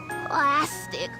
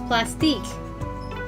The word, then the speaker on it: Plastique: Plastic. Ugh. Anyway. Alright, so her last name isn't pronounced plastic, it's plastique. 100%.